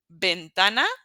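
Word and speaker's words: ventana: that it's B okay moving on to letter B which uh is exactly the same as letter V they're identical twins in pronunciation so you will not hear a difference let me show you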